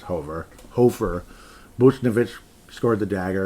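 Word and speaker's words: Hofer: I've been calling him Hoffer forever, but it's Hover.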